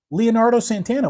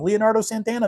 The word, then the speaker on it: Leonardo Santana: Everybody likes the band Santana. Everyone knows who Leonardo DiCaprio is. We just put the two together to get your name. Leonardo Santana.